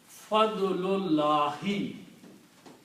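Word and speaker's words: فضل الله: So the pronunciation of these two words together will be Fadlullahi, grace of Allah.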